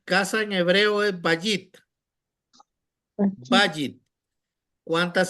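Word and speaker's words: בַּיִת: dice casa en hebreo Cómo se lee va bit bit bit acento en la penúltima sílaba si usted ve tiene un guion cito arriba de la bet quiere decir que el acento la lleva en la cex que está abajo de la vet por lo tanto casa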